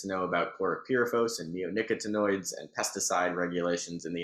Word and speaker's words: neonicotinoids: Can you say that again? Neonicotinoids. I've been wanting to know how to pronounce that. I think, who knows if I've got it right, but we've had a lot of public hearings on it, so I'm getting closer to pronouncing these things correctly. I think you actually got it right.